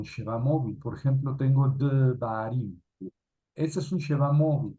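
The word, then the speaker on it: דְּבָרִים: Esto quiere decir que se transcribe y se pronuncia como una E muy ligera. Devarim.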